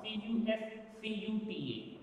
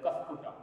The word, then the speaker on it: Cuscuta: The best example for the parasitic plant is cuscuta, C-U-S-C-U-T-A, cuscuta. Some people pronounce it as cuscuta, some people pronounce it as cuscuta. But I pronounce it as cuscuta, I don't find any problem with that.